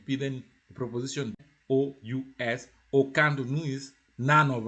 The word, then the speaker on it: aucun: Aucun, pronounce it aucun.